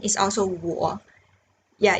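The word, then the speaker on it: 我: i n is also war yeah it's very easy in chinese i owe me both it says war so the w the pronunciation is here the w here it's ooh okay i'm going to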